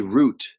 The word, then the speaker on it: route: Route. Some people say most people say route. Some people say root uh for this word. So, it's pronounced a couple different ways depending on where you live in uh the English